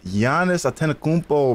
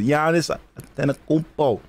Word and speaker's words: Giannis Antetokounmpo: Sound off for this wild pronunciation. Holy freaking moly. Giannis Antetokounmpo? Bro, it's Giannis Antetokounmpo, bro. It's not hard. Just watch basketball. I mean, you don't watch basketball. But Giannis Antetokounmpo.